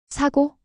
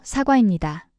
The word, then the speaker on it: 사과: 이번에는 사과라고 해 보세요. 사고. 아니에요. 사과입니다.